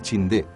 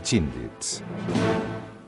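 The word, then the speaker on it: Chinthe: Wingate adoptó el Chindé, la bestia mítica que vigilaba todos los templos birmanos, como símbolo para su fuerza. Pero una incorrecta pronunciación del nombre llevó al apodo de Chindits.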